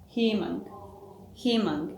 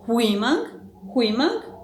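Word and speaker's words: 희망: We have her, he, himang, and we are not pronouncing it like huimang, but himang, and himang means hope.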